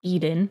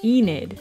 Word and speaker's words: Enid: think or feel too much where with Eda Eden how do you pronounce this in it Enid that is a weird word to say sorry